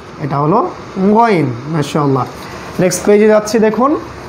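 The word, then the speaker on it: غين: অক্ষরের নাম হচ্ছে খ, এই অক্ষরটার নাম হচ্ছে গয়েন, গয়েন গয়েন, এটাকে খা বলবেন না, এটাকে গাইন বলবেন না, এটা হলো খ, এটা হলো গয়েন, মাশাআল্লাহ।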